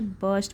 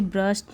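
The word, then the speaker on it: burst: एंड बस्ट the balloon with its beak, बस्ट, अब इसे बस्ट pronounce करेंगे, यहाँ पर भी आर साइलेंट होता है, तो इसे ब्रस्ट नहीं बोलेंगे, इसे बस्ट द बलून।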